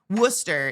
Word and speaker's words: Worcester: Worcester. In the UK, it's worcester sauce, but it's still spelled with all the letters, right? All the wor sireses. We're just skipping it.